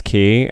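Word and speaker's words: quay: How about Love is Key? And key is spelled Q-U-A-Y, because that's like a key, like a landmass.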